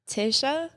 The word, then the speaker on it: Tasia: then he was like that's the number nine in Hebrew I was like okay that's cool yeah that's how you say it what Tisha okay cool that's how you say my name now there we go